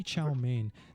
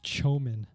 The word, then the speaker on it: chow mein: in his step right they don't say chow mein they say chomin no because in our